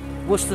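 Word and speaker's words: Worcestershire: This is Worcester sauce, or Worcester sauce, or some Americans call it. You pronounce it Worcester sauce, with ketchup.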